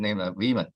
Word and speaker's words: Wieman: Now, I used to call name Wieman because it was a German pronunciation.